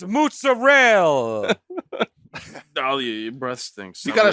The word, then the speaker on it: mozzarella: Yeah, let me tell you, it's mozzarella. Oh, your breath stinks. You I'm gotta looking. say it like my grandma said it, who you never met before. She had a funny thing where she said, mozzo.